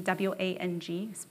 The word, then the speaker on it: Wang: My name is Wang, first name like the flower, last name W-A-N-G. Actually sounds like Wang, that's how you pronounce it in Chinese.